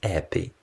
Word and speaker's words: happy: The letter H is most often silent. Thus, happy is pronounced as appy.